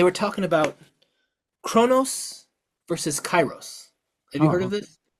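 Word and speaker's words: kairos: to call it um but chyros and it's spelled different it's k a i r oos but I just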